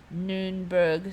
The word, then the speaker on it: Nürnberg: don't speak German but I think you're supposed to pronounce that you like you noon burg something like that so